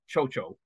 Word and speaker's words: Cao Cao: And Chocho is spelled CAO, CAO, if that helps. That's how they say it in the film as well. Yeah. I just replaced How Tao with Kusohisia. And yes. And I noticed in the Japanese version, it's pronounced so-so, just to add further confusion. So yes, is that good enough for you, Clive?